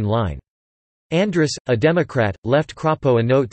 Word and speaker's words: Crapo: In his Senate bid, as in his House campaigns, Crapo's campaign made signs that had a macron placed over the A in his name Crapo to indicate its correct pronunciation.